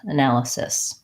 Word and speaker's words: analysis: and then changed fils it thesis or analysis analysis so with sit it's not a real word